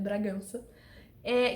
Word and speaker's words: Bragança: Castelha o Mauro Bragança, pronunciem da forma que vocês quiserem, a minha pronúncia tá certa, é Bragança, que é o pior inquisitor atual de Roma.